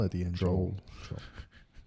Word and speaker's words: Joel: Joel.